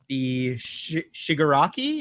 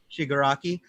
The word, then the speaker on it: Shigaraki: copied him but I picked up on Amazon Shigure aki is that how you say his name sugar aki cheney helped me out how do you say his name i believe it she good rakia shigaraki okay so it's the hand hand face guy